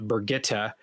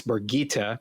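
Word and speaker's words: Birgitte: pronunciation of Berg eita she's saying that it's not Brigitta it's boogita yeah I told her that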